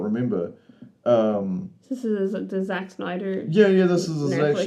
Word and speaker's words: Snyder: Snyder? Yes, you're putting like an H in there, or a CH thing. It's just SNYDER.